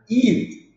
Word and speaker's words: eat: duas coisas diferentes ó ET it na fonética você já percebe aí a diferença esse e a ou às vezes pode ser dois e e às vezes um próprio I mesmo tem esse som de i que seria um som mais longo it it it ó